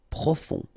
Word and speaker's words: profond: Final D not pronounced. O-N, on. Profond.